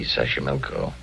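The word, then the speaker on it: Xochimilco: oh it'll be wonderful Mexico City taxo pbla Sashi milco okay so you pronounce it better than I do easy Sashi milco that's where the streets are paved with flowers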